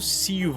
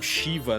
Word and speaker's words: Ziva: Porque Ziva às vezes se escreve como Z, mas a pronúncia seria como Siva, ó, não shiva, não tem esse chã.